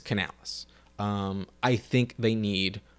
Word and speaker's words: Canales: Mike Evans last here uh Canalis it's Canales um I think they